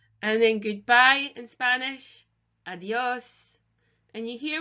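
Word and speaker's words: adiós: then goodbye in Spanish adios and you here with an accent again you can hear the emphasis adios adios adios Libyan and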